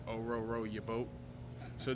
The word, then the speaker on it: Orhorhoro: told them it's like Oh row row your boat so just remember that two HS are silent and yeah but it's